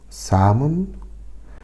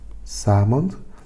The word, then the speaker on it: salmon: butter, garlic, milk, potatoes, salmon, broccoli, and strawberries. Repeat this with me. Salmon, salmon. You see the L in salmon is mute.